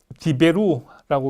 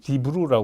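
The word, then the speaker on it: דברו: 그 다음에 이것도 디베루라고 이렇게 발음하는 분들 있지만 또 많은 사람들 디베루라고 발음하는 분들 있지만 많은 분들도 이렇게 디브루라고 그냥 그대로 발음하기도 합니다.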